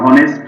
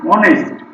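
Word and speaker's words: honest: তাহলে অনেস্ট, এখানে হনেস্ট না, অনেস্ট, ওই জন্য এখানে অ্যান হবে, ব্যতিক্রম।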